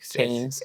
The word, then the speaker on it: Cairns: Que é uma cidade chamada Cairns. Né? Cairns. Mas se escreve C-A-I-R-N-S. Ok.